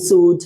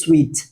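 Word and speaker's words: suite: ভুল করি 99% মানুষ আমরা বলি যে হানিমুন সুট হানিমুন সুট আমার জন্য একটা হানিমুন সুট বুক করো তার জন্য একটা হানিমুন সুট বুক করা হয়েছে ইটস নট সুট যদি সুইট কি হবে এস ইউ আই টি সুইট উচ্চারণটা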